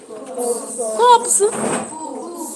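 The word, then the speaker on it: coups: Out and outfall players who rose to power through military cops. Cools. Cools. The P is silent.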